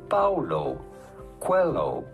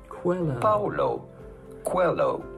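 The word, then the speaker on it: Paulo Coelho: how to pronounce that how do you go about pronouncing his name Paulo Quello Paulo Quello pretty straightforward once you know Paulo hello cuello Google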